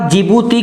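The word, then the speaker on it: Djibouti: इसको हम लिप्त हैं DJ बनेगा जिबूती कि किसमें डी साइलेंट रहने वाला है जी बूटी आप हिंदी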